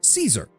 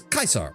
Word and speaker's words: Caesar: pronunciation of Kaisar is Caesar because that's how it's usually taught. But in traditional Latin, it is Kaisar because the soft C sound does not exist in traditional Latin.